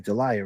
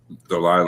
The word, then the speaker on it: Delilah: Delia, right? Is that how you say it? Delilah. Yeah, Delilah. My bad, Delilah.